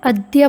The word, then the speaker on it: अद्य: ध्यान रखेंगे अद्य नहीं बोलना है, अद्य बोलना है, क्योंकि पहले द है फिर यह है, अतः उच्चारण होगा अद्य।